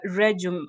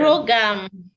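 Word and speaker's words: RhoGAM: Yes, you've mentioned this injection referred to as the Regum. Am I pronouncing it well? Regum injection. Rogam. Oh, it's Rogam. Yes, RHOG is a kind of an abbreviation, not even the phone. RHO GAM, Rogam.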